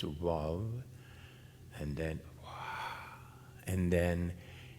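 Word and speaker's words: וו: The sound of vav, because the vav is wav, actually, in the original pronunciation, it's wav, and then wah, and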